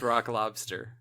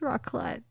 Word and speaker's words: raclette: Yeah, it's pronounced rock lobster. It's not. It's raclette.